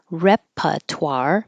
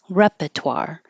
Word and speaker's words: repertoire: that we say differently it could be repertoire by leaving out the middle R completely repertoire or you can keep the r in the middle repertoire and we do pronounce the r at the in repertoire or repertoire I think the first one's easier so I'll go with that and now the adverb